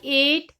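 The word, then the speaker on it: eight: हम सीधा ही बोलेंगे ए आई जी ह टी को आते जी और ह की वॉइस इसमें नहीं आएगी सो गैज टॉपिक बहुत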